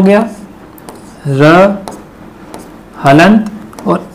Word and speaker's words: ऋ: लेते हैं स्वरों के रूप में। क्यों? क्योंकि इसकी जो ध्वनि होती है वह री होती है, ऋषि हो गया, इस टाइप में।